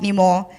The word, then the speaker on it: Nima: It is spelled Nima, but it is pronounced Nimo.